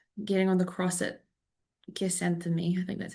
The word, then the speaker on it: Gethsemane: My brain's been pronouncing it wrong. Oh, it's Gethsemane, the Garden of Gethsemane.